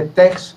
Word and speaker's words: TeX: de para usuarios de TEX o TEG, que se parece que se pronuncia así, en castellano, y yo veía que este hombre pues hacía unas cosas tremendas, ¿no?